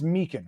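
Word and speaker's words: Meechan: Your real name is Marcus Meekin, right? Yeah, well done for pronouncing the second name correctly.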